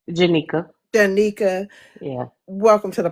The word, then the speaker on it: Jenica: Jenica.